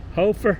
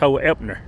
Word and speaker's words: Hoeppner: Hoefner, Hoeppner, Hoefner Law, PLLC, attorneys at law. Josh Hoepner. Hoeppner, I'm sorry. It would be pronounced Hoeppner.